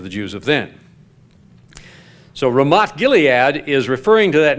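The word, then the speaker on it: רמת: of ancient Israel and of the modern nation-state Ramat and the th in Hebrew is pronounced in Hebrew has it just a hard T sound Ramat means heights the heights of Gilead is the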